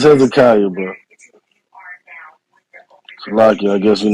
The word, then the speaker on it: Hezekiah: Want to speak on the topic, brother Hezek Yahoo? Hezekiah. It's Hezekiah, bro.